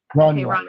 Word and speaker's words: Rania: I say Rania. I could be saying it wrong. Greg, how do you pronounce her name? Yeah, that's right. You're saying it right. Okay. Rania. Good. And so the mother Kamel died.